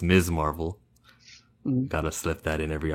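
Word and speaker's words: Ms. Marvel: Kamala Khan I want miss Marvel to be a household name where people pronounce it MS Marvel instead of Miss Marvel or mrs. Marvel its MS Marvel gotta slip that in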